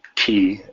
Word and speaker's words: ki: was the use of the ki, as they pronounce it in Japanese, to sort of cloak his movement.